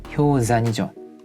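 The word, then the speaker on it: 氷山: 한 가지 주의해야 할 점은 빙산이라는 말이 효산이죠.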